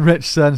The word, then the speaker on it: Ritchson: that how you say his name yes Alan richson so if you don't know who he is